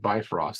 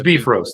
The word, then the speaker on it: Bifrost: beef roast is how it's pronounced but it looks like bifrost so we would say yeah it's a bi-frost yeah but it's beef roast that's the per that's